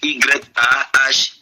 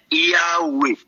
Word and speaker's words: Yahweh: Par contre, la prononciation grecque est Yahweh. Yahweh. I-A-O-U-E. Pour bien prononcer, mes amis. Et la prononciation du latin, c'est Jéhovah. Donc ce Dieu-là, qui partout